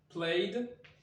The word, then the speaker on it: played: Donc, première possibilité, ici, ce sera played, et on va le prononcer comme ça, D.